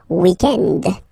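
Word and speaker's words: week-end: the weekend okay but then pronounce it the French way weekend the weekend okay but then in other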